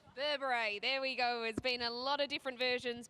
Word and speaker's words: Berbere: and I've got the official pronunciation Grant give it to us Burberry Burberry there we go there's